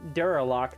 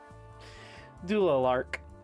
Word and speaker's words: Doolark: Uh, like I said, I've been pronouncing Duralock the entire time or Durac, but it's it's uh Doolark.